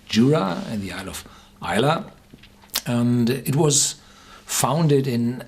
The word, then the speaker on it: Islay: It's spelled Islay, but the Iliach, the natives of the island, call their island Islay.